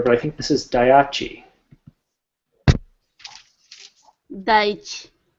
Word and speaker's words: Daiichi: And Hyde can correct me if I'm wrong here, but I think this is Daiichi. Daiichi. Say that again, please. Daiichi. Daiichi. Okay, well, see, we can both learn how to pronounce that there.